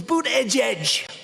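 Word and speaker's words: Buttigieg: Pocahontas, Sleepy Joe, boot edge edge. Boot edge edge. They said, think of it as boot and then edge edge, because nobody can pronounce this guy's name.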